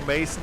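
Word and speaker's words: Maassen: Mason these guys all and he it's m pronounced Mason and it's another one that walks out there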